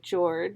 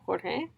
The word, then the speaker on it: Jorge: So the teacher is calling Jorge George instead of Jorge.